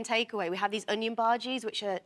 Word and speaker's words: bhaji: Uh how do you pronounce it? Bhaji.